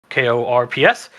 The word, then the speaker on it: Corps: Corp spelled like corpse, but Korps.